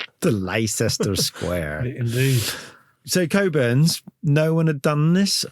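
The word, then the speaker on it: Cockburn's: for a cherry yeah called coburns pronounced coburns but on the page if I was American I go CAC burs yes which immediately makes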